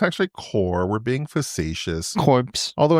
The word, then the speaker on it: Corps: So, for whatever reason, because of the English language, the P and the S is not pronounced.